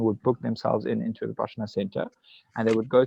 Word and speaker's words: Vipassana: Well, I realized you've mentioned Vipassana, if I'm saying that, if I'm pronouncing that correctly, a type of meditation. Vipassana, yes.